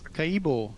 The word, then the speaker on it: Maracaibo: How did you pronounce that again? I can't remember. It's Maracaibo.